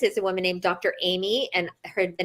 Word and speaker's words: Aimee: And her name is spelled Aimee, Dr. Amy.